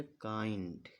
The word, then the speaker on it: काइंड: ये के है यानी कि का रहेगा और आ की मात्रा का में लगाएंगे हम और ये ई, इसको हम यहाँ लिखेंगे और एन का मतलब आधा ना रहेगा और ये डी। क्या लिख गए काइंड।